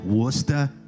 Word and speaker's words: Worcester: Okay, so I'm from Haverhill, which is spelled Haverhill, but in Massachusetts, as you may know, we try to get rid of at least one syllable in every city. Haverhill, Worcester. Yeah. Gloucester, And Leicester. then they add syllables where they don't belong.